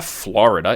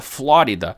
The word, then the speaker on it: Flórida: Não é Florida, é Flórida.